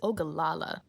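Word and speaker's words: Ogallala: I should have checked these pronunciations before I recorded the video, but it's Ogalala, not Ogalala.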